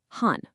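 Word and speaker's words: 婚: To really hammer his point home, he points to the traditional Chinese character for marriage, which is pronounced hun.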